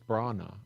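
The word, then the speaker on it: Branagh: B-R-A is pronounced bra, and nah, N-A-H is pronounced nah, so it's Brana.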